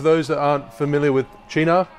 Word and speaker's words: Cynar: So for those that aren't familiar with Chee-nar, I used to pronounce it Chee-nar, which is apparently wrong.